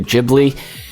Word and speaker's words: Ghibli: The story and the animation was done by Studio Ghibli. Yes, it's pronounced Ghibli, not Ghibli, I know.